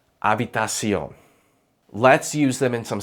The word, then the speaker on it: habitación: In Spanish, the letter H is completely silent. Not sometimes, not only on weekdays, always. Hombro, hoy, hacer, habitación.